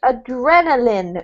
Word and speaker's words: adrenaline: this one here Paulo is adrenaline not line but Lin adrenaline okay adrenaline what does it